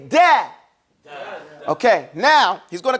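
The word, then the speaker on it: دال: What he's doing now is describing to you in detail exactly how to pronounce the letter del.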